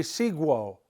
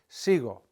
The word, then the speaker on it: sigo: If we put a U there, it'd be seguo, seguo. That's not going to work, sigo.